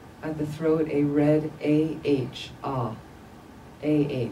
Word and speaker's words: ah: ohm o m at the throat a red a h ah a h just visualize again in the